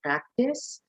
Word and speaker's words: practice: Now, if you're going to use this as a noun, make sure that you put emphasis on the first syllable, but if it's a verb, it's on the second syllable.